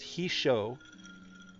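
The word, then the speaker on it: Hissho: I was told that it's pronounced He-Show, and so I will try to remember to pronounce it that way from now on.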